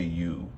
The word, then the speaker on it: ewe: I'm gonna say you. But eucalyptus, utensil, and hey you hardly noticed. Yeah, that's how you say that. It's EWE.